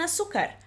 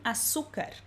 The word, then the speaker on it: azúcar: não tem alguma coisa, e açúcar se escreve com a letra Z. Lembrando que é o mesmo som de S, açúcar. A mí me gusta el café sin azúcar.